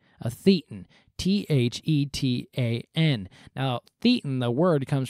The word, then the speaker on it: thetan: Just interesting enough, if you were to pronounce it according to the Greek letter, it'd be thetan, which is Satan with a lisp.